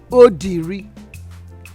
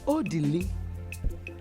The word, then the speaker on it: Odili: My son's name is not Odiri. See the mouth you use in calling him. Odiri. His name is Odili. Pronounce it. Odili. Pronounce it well. Odili.